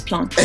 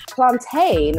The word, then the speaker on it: plantain: I'm just trying to educate and inform that it's plantain. Educate and inform of something that's wrong. Plantain, right? You go to the Americas, you go to England, everyone says plantain or plantains.